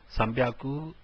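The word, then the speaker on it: 三百: 300 is known as Sambyaku. It is not Sanhyaku, but Sambyaku. 600 is Ropyaku. Instead of being Roku Hyaku, it is Ropyaku. And similarly, Hachi Hyaku, that is 800, has become Hapyaku. Sambyaku, Ropyaku and Hapyaku are the three which have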